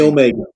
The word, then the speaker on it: omega: omega. Omega looks like our W, but it's not a W. It's an O as in obey. Oh, It's a long a long O sound.